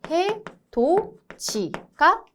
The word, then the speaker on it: 해돋이: 그 다음 디귿이 이를 만나면 어떻게 된다? 지읒으로 변한다. 그러니까 얘는 해도지가 되겠죠.